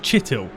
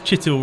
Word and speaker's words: Chittil: I think it was just Chittil. So yeah, it's Chittil rather than Chaitel, I think.